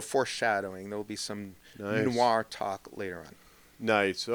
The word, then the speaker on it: noir: word of day is Noah n oi I'm really into the French these days no Noir it's F Noir Noir all right n